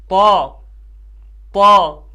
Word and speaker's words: ط: نہیں بلکہ غین غین۔ اسی طرح طا، کچھ اس کو تا پڑھتے ہیں، یہ والا تا، کچھ اس کو طا پڑھتے ہیں، طا نہیں بلکہ صحیح تلفظ کیا ہے اس کا؟ طا طا، ایسے طا طا۔ اور اس کو قاف